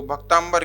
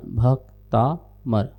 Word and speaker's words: भक्तामर: शंका रख रहे हैं लोग भक्तामर स्तोत्र को भक्तांबर क्यों कहते हैं क्या क्या है अ बैलेंस